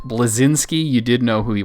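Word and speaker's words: Bleszinski: moogle go ahead you butchered the saying of his last name but it's cliff blezinski you didn't know who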